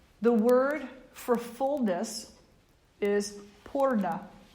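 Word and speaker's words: पूर्ण: And it's really interesting that in Sanskrit, the word for fullness is purna. Now we spell it, and when we transliterate it, it's spelled either P-U-R-N-A or P-O-O-R-N-A. But still, the vibration is pur.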